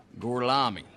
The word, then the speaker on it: Gorlami: Lo pronuncio correttamente? Sì, corretto. Gorlomi? Per cortesia, me lo ripeti ancora. Gorlami.